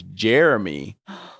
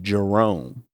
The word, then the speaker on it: Jerome: to find out that she was pronouncing my name as Jeremy not Jerome so it was funny